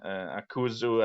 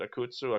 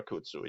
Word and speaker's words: Akutsu: make it against khan akuzu at this uh that's not just how it's pronounced is it akutsu akutsu yeah uh how he will